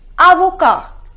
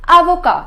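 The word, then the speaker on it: avocat: say to an advocate advocate is Avoca the pronunciation is Avoca so the first rule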